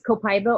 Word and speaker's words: copaiba: It's copaiba or copaiba. It comes from Brazil. So Copaiba. it's pronounced like it would be in Spanish. Copaiba is its correct pronunciation.